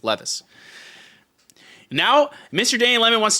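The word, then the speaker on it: Levi's: of you slban all Lis Lis but it's pronounced Levis okay if if there was if there were two e it'd be Lis but it's one e it's Levis now Mr Danny lemon wants to be banned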